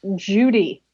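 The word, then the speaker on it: Jowday: extreme negative force called zhao day day so i'm guessing that's probably spelled j-a-o-d-e-i that's an excellent question but colloquially it's pronounced judy right so we're starting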